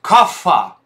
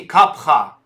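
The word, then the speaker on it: कफ: такое слово индийская как каффа каффа вместо а юридического термина расцепите капха так вот каффа это неправильное произношение а рабби зера ванная санскритского капха сам свете нет в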